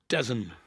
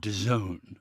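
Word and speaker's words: DAZN: How would you pronounce that? Desen. Yeah, you'd think, wouldn't you? Um, you kind of start off with D and hope for the best, but it's it's actually Done.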